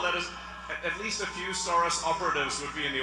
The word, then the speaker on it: Soros: Uh Shoros, Soros, Shoros. Okay. Shorus. He's in Hungarian.